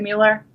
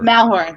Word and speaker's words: Malheur: And if you guys are familiar with the Bundy standoff and the Mueller, is that how you say it, Mueller? The Mueller? Malheur. The Malheur Refuge.